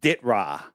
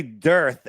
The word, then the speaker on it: DITRH: So it's pronounced Ditra. Ditra. I'm sure I said something else. It's all right. I'm sure I did. Either too way, many people say dearth, and everyone spells it wrong. So they spell it DIRTH. Ditra. All right. Yeah, I used to say dearth.